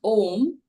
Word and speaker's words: Om: You know, when you chant Om, which is a combination of 3 syllables, you can feel those vibrations from here till your solar plexus, which is below your chest.